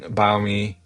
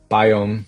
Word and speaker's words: Biome: So a user explicitly requested using biom biome I keep saying biom um but uh biome is I think is the proper pronunciation here and uh it's